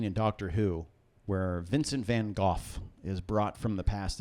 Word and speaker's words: Van Gogh: Starry Night Van Gogh you've been golf yes Van Gogh yes that's how you that's how you pronounce yes that's how you pronounce it Oh